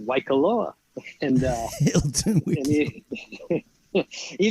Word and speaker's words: Waikoloa: And he said, Hilton Wiki Cola. I said, Waikoloa.